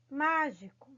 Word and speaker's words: mágico: Mágico, tá? Mágico, queridos, é uma palavra que tem o acento no má. Por ter esse acento, ele já é uma sílaba forte, tá bom?